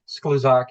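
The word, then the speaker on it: Skluzak: would you please state your name and spell it for the record? Sloozac S K L U Z A K.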